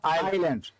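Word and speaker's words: island: ইসল্যান্ড বলতে কোনো কথা নেই, এটা হলো আইল্যান্ড, ঠিক আছে।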